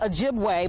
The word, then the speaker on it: Ojibwe: So I'm standing in front of what it's spelled Ojibwa, but I want to say Ojibwe, but it's an elementary